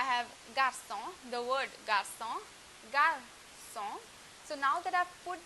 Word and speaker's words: garçon: For example, I have garçon, the word garçon, garçon. So now that I've put the cedilla below the C, it is pronounced as garçon. But if I remove the cedilla, then the pronunciation changes to garcon, garcon.